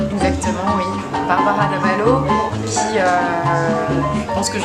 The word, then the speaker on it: Bárbara Dávalo: Faut le prononcer avec l'accent. Exactement, oui. Barbara D'Avalo, qui, je pense que je raconte un peu d'où elle vient.